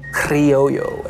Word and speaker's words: Criollo: It's spelled Criollo, but a double L makes a Y sound. I guess you could say it more in a Spanish way with like rolling your R's. Criollo.